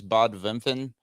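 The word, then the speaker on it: Bad Wimpfen: that one it is the town's name is Bob vinfen it is Bob bad w-i-m-p-f-e-n that's how you phonetically spell it out um It's A Little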